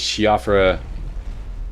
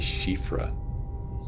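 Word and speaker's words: Siofra: your way into this this shfa or shifra riverwell I've been told two different ways to pronounce this um I think it's officially shifra anyways take this elevator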